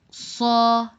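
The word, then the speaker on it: ص: raw raw sod Fatah saw our letter for today don't forget it has to be a little bit heavier saw again saw that fat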